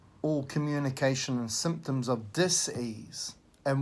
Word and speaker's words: dis-ease: communication and symptoms of dis-ease and we really emphasize pronouncing it that way dis ease and then we bring